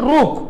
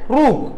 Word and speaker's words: rook: அடுத்தது வந்துட்டு ரூக், இது வந்துட்டு என்ன, ரூக், ROOK, ரூக். நல்லா எல்லாரும் ப்ரொனவுன்ஸ் பண்ணுங்க.